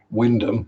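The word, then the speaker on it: Wymondham: Haysborough, Tackleston, Wyndham, that's another one they always get wrong.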